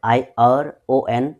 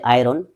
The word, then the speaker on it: ion: I am saying about the word I O N. It's not actually iron. The correct pronunciation is ion.